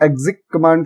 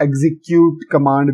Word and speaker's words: execCommand: तो आज के इस जावास्क्रिप्ट के मिनी ट्यूटोरियल सीरीज में हम एक्जिक कमांड के बारे में सीखेंगे, जिसको अगर मैं प्रोनाउंस करूं तो एक्जिक कमांड कहा जाता है और इसके अलावा इसको एग्जीक्यूट कमांड भी कहा जाता है।